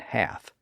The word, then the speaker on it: half: But other writers who came along immediately after Hart, like William Bullicar in the 1580s, indicated that the L's were silent in those words.